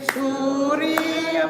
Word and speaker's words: surya: Oi lele lele surya volo vi pasele. Let me just get that scanning right. Oh, lele lele surya volo vi surya vo. So that middle syllable of surya gets kind of eaten up.